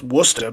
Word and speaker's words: Worcester: I had to bullshit in the beginning with you guys and talk about how to pronounce Woostah, because I didn't really have too much else to bring to the table in this one.